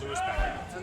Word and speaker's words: Louis Patrick: She's telling me there's no accent in there. Just pronounce it Louis Patrick.